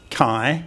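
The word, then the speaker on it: ไข่: So the basic sound is kai, and we need to get the tone right.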